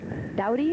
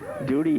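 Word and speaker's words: Dody: Now, let's see what Duty Doughty or Duty Duty, D O D Y.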